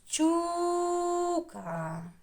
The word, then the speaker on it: щука: так почули і А куди наголос ставимо на у чи на а щука тихіше той що не